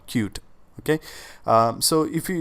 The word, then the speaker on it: Qt: So, QT is also I mean, we are pronounced as cute. Okay? So, that's what we uh we call cute.